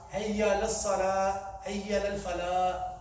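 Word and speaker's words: فلاح: They do hayya, hayya lal salah, hayya lal falah. They say falah. They miss the ha out. It's supposed to be falah, falah. With the soft at the end, the ha needs to be pronounced.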